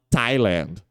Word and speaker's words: Thailand: T mesmo por exemplo Tailândia em inglês é escrito com th né assim e aí esse th ele é o t t mesmo de tatto Ok e eles vão falar thailand OK e Mas isso